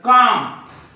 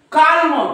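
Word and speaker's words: calm: बघू स्पेलिंग बघू त्याच्या काम राईट बाम बाम त्याच्यानंतर पाम त्याच्यानंतर राईट इकडे बघा कालम कोणी काही म्हणे याला कालम याला बालम याला पालम पण हे कालम नाही हे आहे काम कारण एम च्या वर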